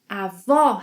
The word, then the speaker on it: avó: 'Avó' has an open O sound. This vowel sound is similar to the one we have in words such as 'awesome', 'oil'.